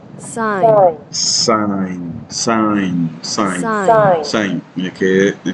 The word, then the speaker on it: sin: Entonces aquí eh y se pronuncia sign y la abreviamos solo s i n. Seguimos pronunciando sign.